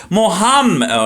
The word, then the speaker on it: Muhammad: Muhammad, if you all want to say it correctly, right?